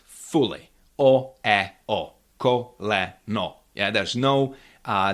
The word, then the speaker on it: ú: Oo is a similar sound to when you say cool or school. So you you need to make this round lips and say really nice crisp. Ooh. It's of course in cool school it's long. You need to make it shorter.